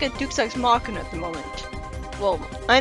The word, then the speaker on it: Deus Ex Machina: Either way, this feels like a Deus Ex Machina at the moment. Well, I know it's pronounced Deus Ex Machina, but that sounds really weird to me.